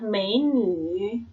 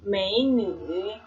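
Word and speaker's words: 美女: Ini bacanya adalah mei-nü, mei-nü. Mei itu artinya cantik, nü itu artinya perempuan ya.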